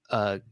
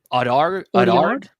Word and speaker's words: Audiard: Is it Jacques Audard? Audiard? I Audiard? say Audiard. That's how I pronounce it.